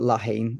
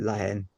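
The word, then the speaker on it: La Haine: I call it Lahane. If you're French, you'd call it Lahen.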